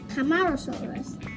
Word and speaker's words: Camarosaurus: Seca, ma, o, Ross, Camarosaurus.